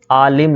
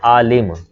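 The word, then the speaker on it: عالم: आलिम लफ्ज़ होता है आलिम, ठीक है आलिम, आइन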